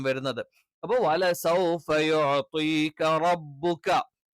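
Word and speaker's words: رَبُّكَ: അപ്പൊ വലസൗഫ യുഅ്തീക റബ്ബുക, റായുടെ ഉച്ചാരണം ശരിക്കും ശ്രദ്ധിക്കണം. നാവിന്റെ തലയല്ല, നാവിന്റെ തലയുടെ മുതുവാണ്.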